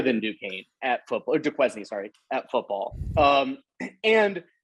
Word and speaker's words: Duquesne: It's Duquesne, by the way. We just say Duquesne because that's funny. It sounds like David Duquesne. We're not pronouncing it correctly.